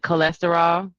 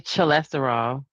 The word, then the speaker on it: cholesterol: Um, like cholesterol. You don't say cholesterol. Oh, yeah. Right. The ch still has that C sound.